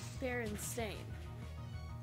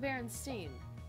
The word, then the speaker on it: Berenstain: See, I googled it, and it's fucking Berenstain. Not Berenstein. Or Stein. Whichever part of Germany you're from is how you're gonna pronounce it.